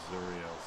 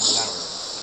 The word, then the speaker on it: Zariel: The second one is called Ruin of Zuriel's Fist. Always get the pronunciation of this mixed up. Might be Zariel's Fist. And which one's the demon? Zariel. Zariel. Yeah, that's me getting it wrong.